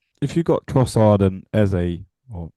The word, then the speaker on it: Eze: Well, if you got Trossard and Eze or Eza, as it should be Well, we're pronounced, going to say we'll go with Eza and we'll we keep go Eza.